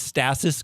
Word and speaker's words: stasis: someone on set was like, we're going to pronounce this stasis, guys, just so you know.